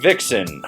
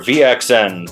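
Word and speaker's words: VXN: going on number for the ride vixen or VX ends depending on how you want to pronounce it it's been a staple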